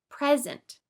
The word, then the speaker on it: present: Present.